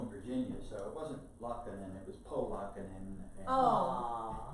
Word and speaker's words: Laakkonen: And I said, it's Laakkonen. He says, no, the way you spell it is Laakkonen, like top part or two part.